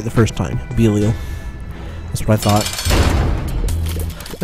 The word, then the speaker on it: Belial: Oh, I pronounced it right the first time. Belial.